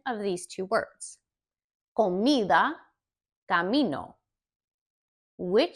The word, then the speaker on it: comida: Comida, camino. Which syllable is more stressed in either one? Comida, the mi, that syllable is more stressed. It's just a little bit louder, but each syllable is pronounced the same.